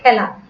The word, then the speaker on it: খেলা: খেলা, এটা কিন্তু বিবৃত উচ্চারণ। খেলাটা আমরা উচ্চারণ করি খেলা।